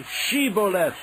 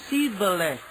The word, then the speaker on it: Shibboleth: they said, "All right, say Shibboleth." If he said, Sibboleth. because he could not pronounce the word correctly, they seized him and killed him at the fords of the Jordan.